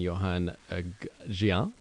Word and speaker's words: Yoan Gehant: guests are from uh ex-sand erica bianchi and johann gian is that pronounced like that's correct welcome guys thank you